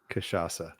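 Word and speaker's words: cachaça: name kashasa yeaha is that really how it's pronounced M it's a Sha and then a s kaaa kashasa and I'm probably gonna screw it up as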